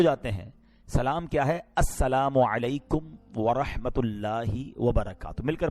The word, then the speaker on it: السلام علیکم: ہاں سلام کی تلفظ ہی ٹھیک نہیں ہے. السلام علیکم, السلام علیکم, یہ سلام نہیں ہے, بلکہ بعض اوقات تو اس کے میننگ ہی آؤٹ ہو جاتے ہیں. سلام کیا ہے؟ السلام علیکم ورحمۃ اللہ وبرکاتہ.